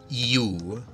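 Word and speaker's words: Ю: with a line between them that would be you Wyatt you and then there is actually let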